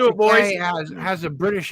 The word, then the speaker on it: Takei: We all love George Takei, but his feud with William Takei. Shatner It rhymes with toupee.